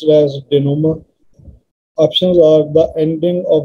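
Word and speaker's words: dénouement: u n e m e and it is pronounced as denomer options are the ending of a committee the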